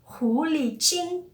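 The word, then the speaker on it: 狐狸精: E a pronúncia de Hulijin na China é Hulijin, bem idêntico, né?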